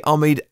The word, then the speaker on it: Omid: a man named Omid Omid presumably Omid afshar is how I say his name who I've got that correctly he's a project manager